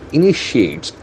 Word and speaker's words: initiate: about tragedy exceeds cycle initiates so the verb is initiates i-n-i-t-i-a-t-e so this is called spelling care initiate initiate the accent force of second syllable initiate HC initiates now comes